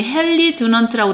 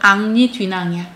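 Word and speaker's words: Henri Dunant: 근데 우리 영어로는 이제 헬리 두넌트라고 나와 있지만이 프랑스 식의 발음은 악리니 뒤낭이야.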